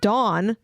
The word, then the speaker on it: Dawn: Don and on no Don d o n dawn like lawn and law Don like law Shany